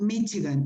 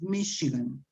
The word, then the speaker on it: Michigan: Names, let's see, this city in English is not Michigan, it's Michigan.